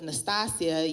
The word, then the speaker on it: Natasia: My name is pronounced Natasia.